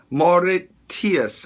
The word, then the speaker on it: Mauritius: Mauritius. How do you pronounce that?